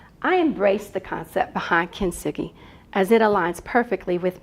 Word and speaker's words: kintsugi: It's a Japanese word, and it Okay. has different pronunciations. Kintsugi, depends Okay. on who you ask. And I actually looked at all those versions, and they're all accurate pronunciations.